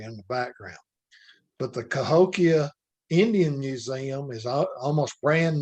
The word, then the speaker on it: Cahokia: The pronunciation of the Indian tribe is Cahokia.